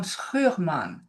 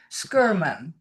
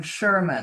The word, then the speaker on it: Schurman: because her last name is Flemish. It's not German. Oh, So you would pronounce it Anna Maria van Schurman, Schurman, rather than Sherman.